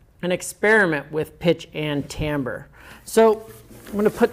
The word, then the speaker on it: timbre: looks like timbre or timber but it's actually pronounced timbre so pitch and timbre and that is really